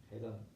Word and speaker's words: Hedón: Hedón se pronuncia, pronunciando la H.